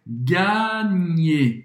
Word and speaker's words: gagner: Gagner. Esse GN em francês tem o som do NH em português um pouco mais forte.